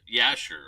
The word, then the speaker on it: Jasher: or jasher that's uh it's spelled now j-a-s-h-e-r but there wasn't a J in the English language until about the 14 or 1500 so it wasn't it was you're probably the book of yasher back in the day